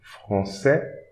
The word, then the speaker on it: français: Don't pronounce this S also, français. Don't pronounce the D S here, comprend.